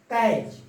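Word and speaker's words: catch: फिर टी के प्रोनाउंसिएशन नहीं होता है जब भी सी एच के पहले टी आ जाता है कहीं भी किसी भी वर्ड में तो उसके प्रोनाउंसिएशन नहीं होते हैं। बैच, कैच, मैच, किचन, ऐसे करते हैं।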